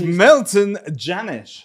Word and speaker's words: Milton Jannusch: This is Milton Jannusch, right? I pronounced that correctly.